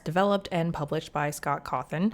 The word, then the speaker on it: Cawthon: and published by Scott cawthon I'm going to say his name really weird because for the longest time I truly thought his name was Scott cawthorne and so it takes all